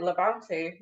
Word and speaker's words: LaBante: I'm interested to learn about you um and Levante is that how you pronounce it that's right yeah that's right so